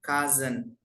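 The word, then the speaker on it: cousin: itu kakek ya kemudian nah ini bacanya kazen Tapi bacanya sepupu laki-laki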